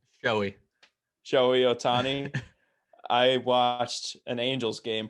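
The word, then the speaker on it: Shohei Ohtani: Shahini Otani? Joey. Shohei Otani.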